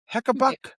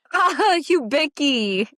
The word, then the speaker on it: Hubicki: Next we have uh Christian Heekabuck. What? Hubicki.